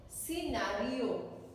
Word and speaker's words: scenario: Scenario, C को नहीं बोला जाता. C is silent.